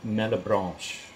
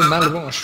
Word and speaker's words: Malebranche: But I'm going to pronounce it Malebranche. Oh, Malebranche, yeah, that's as good as I've got it, yeah.